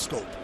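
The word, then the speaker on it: Schoop: leagues so scope is spelled like shoot but it's pronounced scope s-c-h-o-o-p the one one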